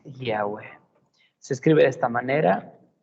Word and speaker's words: Yahweh: El nombre, primero, el nombre del Padre no es Jehová, no es Yahvé, su nombre es Yahweh.